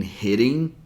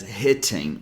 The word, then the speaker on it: hitting: I mentioned before and if you notice both T's are between vowel sounds that's why we pronounce them as a flap t or fast D didn't even take the